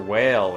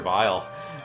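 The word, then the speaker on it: Wily: in the English version, everybody's like, he's Dr. Whale, or Dr. Weil, or Dr. Wheel, or something. And it's like, that it's supposed to be pronounced Dr. Vile, because in like the Japanese version, he's like, Dr. Vile! Dr. Vile!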